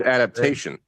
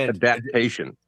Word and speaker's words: adaptation: In 2000, he means adaptation. No, it's not adaptation. Look, his name is Nae'blis. He can say whatever he wants. All right. He used the wrong emphasis on the wrong syllable.